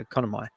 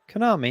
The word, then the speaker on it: Konami: of several developed by the Japanese company uh economy economy economy how do you say that Mommy economy what army comment what con army Konami yeah yeah what did I say economy um